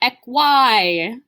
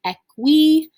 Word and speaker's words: equi: again that long eye this is not pronounced ecy that happens a lot if you do it it's okay it's gonna happen at least once i'm sure of it but try to remember that long i makes an e sound it is pronounced equi this is our word